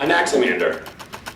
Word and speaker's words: Anaximander: Anaximander. What? Don't act like you've never heard it before. It's pronounced the usual way. Just like it's spelled.